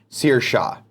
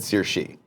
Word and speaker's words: Saoirse: 86 says lol Nick it's pronounced seer Shaw I said sir she the